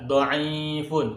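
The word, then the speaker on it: ضعيف: Hurufnya dod, ain, ya, fa. Lemah bahasa Arabnya adalah dhaifun. Huruf-hurufnya perhatikan. Simak. Dhaifun. Dod, ain, ya, fa. Bacanya dhaifun. Lemah.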